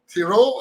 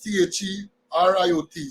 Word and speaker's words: Theriot: Ambassador to Guyana, Madam Nicole Theriot, I think it is pronounced. Well, when I think it is Theriot, so if you break it down, it's the riot.